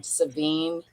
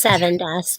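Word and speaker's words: Sevin Dust: I was looking for some Savine or Seven or whatever that shit's called, Seven Dust. Yeah, I call it Savine. Is it Seven? It's Seven Dust.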